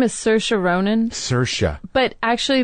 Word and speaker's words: Saoirse: put her name is Saoirse Ronan Saoirse but actually the Irish way to pronounce it is Saoirse Saoirse Ronan and I